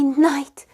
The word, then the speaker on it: knight: say it I don't know night you're my knight in shining armor King Arthur had a lot